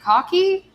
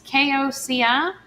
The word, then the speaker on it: Koci: Our speakers will be Connie Garrett and, is it Cocky? Is that how you say it? It's Koci.